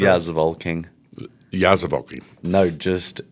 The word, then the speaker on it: Zevalking: Did I pronounce that correctly? Yeah, Zevalking. Yeah, Zevalking. No, just Zevalking.